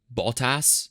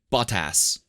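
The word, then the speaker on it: Bottas: telling me about his his last name is ball toss it's be ot TAS but like pronounced in a British accent it's like bought ass and he was like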